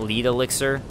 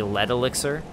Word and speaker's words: Lead Elixir: to correct my mistake I called what one of the items that you get lead Elixir it turns out it's actually Le Elixir so my mistake for that pronunciation oh God see these